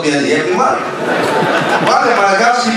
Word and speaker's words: Liyeplimal: Voilà un Philippien qui prononce bien Yeblimal.